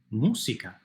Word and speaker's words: música: And by the way, notice that in Spanish we don't have a buzzy Z sound. We don't say music. We don't say música. Música. Just like a regular S.